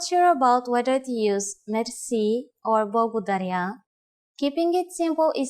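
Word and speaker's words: мерси: Merci. Merci. Merci is a loan word from French, but it is pronounced with the typical Bulgarian hard R.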